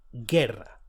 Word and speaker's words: guerra: G-U-E, guerra, war.